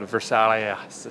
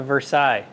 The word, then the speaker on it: Versailles: All right, We got a Ford 9-inch out of that Versailles. it's a Versailles. I don't think that's what it's Silent S on the end.